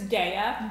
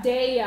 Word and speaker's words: Daiya: It's Daiya. Daiya.